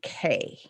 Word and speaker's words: Key: couple is mark and kay okay key her name is spelled k-e-y but i think they pronounce it k something like that she's